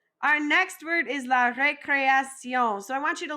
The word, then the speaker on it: récréation: We're going to say ré, then cré, then action.